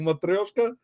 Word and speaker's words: matryoshka: Oh, and Roman, look, we were just talking about those matryoshka.